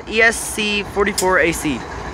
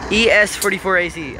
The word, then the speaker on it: ES44AC: said it's not it's an es44ac it's a esc 44 ac es44ac i finally pronounced it right yay all right so that's